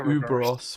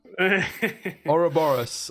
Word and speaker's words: Ouroboros: I've always called it Uberos, but now I'm looking at it, it's definitely not Uberos. Ouroboros, I don't know.